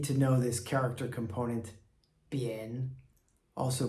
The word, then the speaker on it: 边: Bian, first tone.